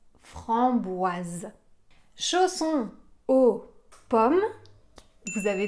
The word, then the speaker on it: framboise: avoir le son ce dans le mot qu'on a vu avant framboise on avait aussi le S entre deux voyelles mais comme on en a un seul on va avoir le son Z chausson framboise chausson au